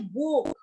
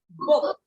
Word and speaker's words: book: basically we are uh using the u sound for example book when though it has double O in it but we don't say book okay what we say book okay this is the